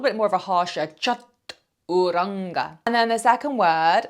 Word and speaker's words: chaturanga: What I want you to realize is when you see an A in the middle of a word in Sanskrit, very often it's actually pronounced as if it's a U, so more that oo sound.